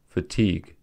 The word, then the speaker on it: fatigue: league and Tong are one-syllable words ending with silent u e are syllabized as follows colleague prologue fatigue in argue however UE